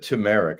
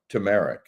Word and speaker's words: turmeric: Rick you're one of the few people that pronounces her Merck C how did you turmeric I said turmeric I forgot about that little r after the